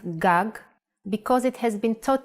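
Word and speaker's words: גג: that you already can write another Hebrew word GOG this means roof in handwriting GOG and in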